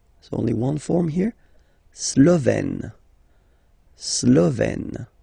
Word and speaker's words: Slovène: La Slovénie, so only one form here, Slovène, Slovène. Remember, E accent grave, you open it, Slovène.